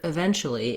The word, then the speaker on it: eventually: at the end but what happens in the word eventually is that i have so many syllables i have e ven that it gets a little bit reduced naturally in american speech so they're going to